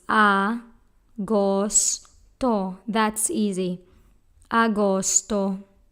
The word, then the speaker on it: agosto: Leo a ghost own this word has three syllables ah ghost oh that's easy Agosto said